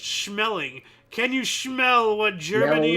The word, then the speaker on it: Schmeling: Now, his last name is, I believe, pronounced Schmeling.